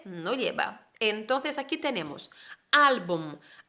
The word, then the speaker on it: álbum: lleva entonces aquí tenemos álbum álbum y lleva tilde al que se le va tónica por qué porque boom termina con m la palabra termina con